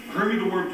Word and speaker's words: Hoimie the Woim: Hoimie the Woim, to set it up, is from New York City, so hence he pronounces it Hoimie the Woim.